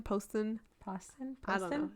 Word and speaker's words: Poston: Is it Poston? Poston. I don't know. It's spelled like It's Boston. like post. But On. also Oh yeah, like like post. Post on.